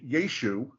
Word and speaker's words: Yeshu: ah on the end it would have been yeshu the iron if it